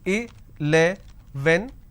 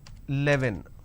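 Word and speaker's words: eleven: here is 11 so i can pronounce this as a le when but lot of people pronounce this as 11.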